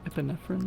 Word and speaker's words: epinephrine: in the Okay, I've always struggled to pronounce this. Is it epinephrine? Epinephrine.